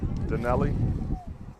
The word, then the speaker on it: Danelli: Danelli. Danelli. Yeah, they have to say it like Italiano.